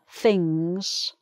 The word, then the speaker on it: fings: If I say things, things, if a Cockney person says things, and the F is replacing the TH sound, then it's really things.